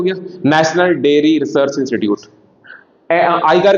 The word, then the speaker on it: ICAR: आई कार, इसको आई कार पढ़ते हैं, ICAR भी आप पढ़ सकते हैं, in general it इज प्रोनाउंसिएटेड एज आई कार, Indian council of agriculture